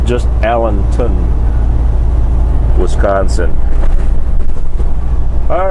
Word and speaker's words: Allenton: located in Allenton Allenton Wisconsin I used to pronounce this place allent Town Wisconsin turns out it was missing a w so yep it's just Allenton Wisconsin all right we are on our way